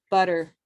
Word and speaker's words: butter: to put it here, if these T's are surrounded by two vowels, they become pronounced as a D sound. Okay, pattern. And so you'll see that with, for example, butter, where these two T's sound like a D, butter.